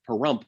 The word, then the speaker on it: Pahrump: outside the town of pahrump which rhymes with dump anyway there's tons of